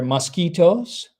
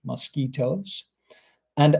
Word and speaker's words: mosquitoes: And we mentioned earlier mosquitoes. Okay, be careful of the pronunciation here. Mosquitoes. It's a little bit different to French. Mosquitoes and other biting insects.